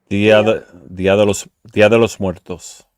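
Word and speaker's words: Día de los Muertos: Now I don't pronounce it properly, but can you Ramon properly pronounce the Day of the Dead in Spanish? Dia de los Muertos.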